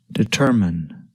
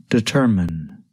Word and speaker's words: determine: syllables determin the stress is on the second syllable tur listen and repeat after me determine determine determine Robert Gard today rocket